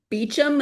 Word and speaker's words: Beauchamp: Yeah, that's one of those names that either is just completely weirdly pronounced as Beecham.